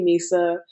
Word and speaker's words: Mesa: yeah just call me Misa um and then and then people weren't pronouncing Misa right and I was like well like Misa Piza and people would be